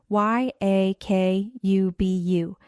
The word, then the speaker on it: Yakubu: His name tag read Y A K U B U. And I had no idea how to say it. He told me it's Yakubu, which means Jacob and that he's from Nigeria.